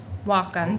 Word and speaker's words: Wacom: So the picture on the slide, that is and I'm hoping that I pronounce this correctly, it's a Wacom tablet. Wacom, thank you.